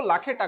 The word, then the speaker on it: लाखेटा: ओ sorry लखाना बोल दिया ना उसको लाखेटा कर देना भाई। मेरे से बोल से वो प्रोनाउंसिएशन गलत से हो गया होता है।